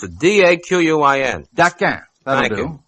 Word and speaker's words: Daquin: I don't know how to pronounce it. D-A-Q-U-I-N.